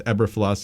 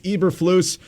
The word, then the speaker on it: Eberflus: I assumed it was Eberflus. It's not. It's Eberflus.